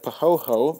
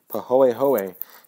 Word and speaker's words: pahoehoe: paw a ho a so that o and the E are pronounced separately um it winds up sounding like when people say it fast but pahoehoe is um is very